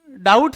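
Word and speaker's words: doubt: जिस प्रकार बी का संबंध डाउट से है। उसी प्रकार एच का संबंध किससे है? तो यहां ध्यान देना उस इस शब्द में डाउट शब्द में बी है वह साइलेंट है।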